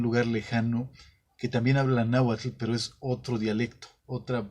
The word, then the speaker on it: náhuatl: una palabra anáhuac y en lugar de decir el náhuatl dice nagua todo con agua tel porque no saben pronunciar la entonces en la manera que yo lo pronunció náhuatl él se les hace